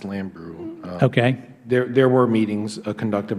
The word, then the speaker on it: Lambrew: Was it Jean Lamborn? Jean Lamborn. I believe her name's pronounced Lambrew.